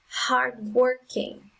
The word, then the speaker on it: hardworking: the next example is hardworking hard-working so the syllable with the strongest sound is the second one did you get the